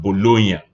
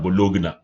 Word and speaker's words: Bologna: Bologna, by the way, this is pronounced Bologna rather than Bologna.